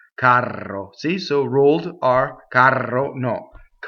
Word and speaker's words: caro: So there's a single R, right? Single R. Caro means dear, beloved, dear. If you say carro, it means something else like a box car to a train or a stage coach or something like that.